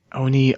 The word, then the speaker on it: ONI: preservation on tempst and O and I Castle on Forge World Onie geez say it right Noob Onie o and I is the office of n Naval intelligence it could be said either way acronyms are fun find